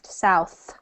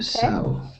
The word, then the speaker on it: south: You say that last TH sound, south. Okay. South.